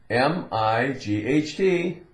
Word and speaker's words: might: M-I-G-H-T, m-i-t, might.